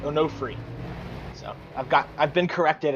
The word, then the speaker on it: Onofre: got Edwin onofre without onofre my apologies were pronouncing it earlier it's no free I've got I've been